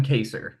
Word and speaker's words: Kaser: Kevin Haser, is that right, Andrew? I don't want to mispronounce it. Kevin Kaser. Yeah. It is Kaser.